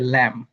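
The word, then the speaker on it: lamb: এবি উচ্চারিত হবে না। এটা হবে ল্যাম।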